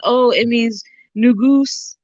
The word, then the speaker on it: Negus: saying oh it means new Goose it's not negus it's new goose n-e-g-u-s is pronounced new goose and um that was